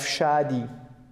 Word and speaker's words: Shadi: And one proper noun for ladies, we have shadi. Shadi. She's my sister. Be careful. Good. Shadi. How we pronounce shadi is here, and sh-a-di. Shadi. That's a proper noun.